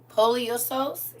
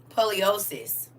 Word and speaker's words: poliosis: Poliosose? Did I say that right? Poliosose or polysose? How do you say that? Poliosis. Okay, poliosis. Poliosis or something like that.